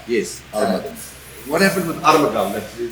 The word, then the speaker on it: Armageddon: to give us the meaning and the correct pronunciation, because we're still about to get it right, or wrong at least. It's Armageddon. Yes, Armageddon.